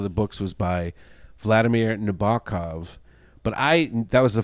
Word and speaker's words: Nabokov: Nabokov so I'm like okay that's how you say it Nabokov and then the teacher was like no it's Nabokov and I was like